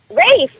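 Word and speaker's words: Ralph: uh Rafe you think Rafe that sounds great and it's spelled r a l p how's that and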